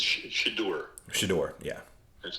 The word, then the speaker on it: Shedeur: Shedeur, yeah. That's how I pronounce it.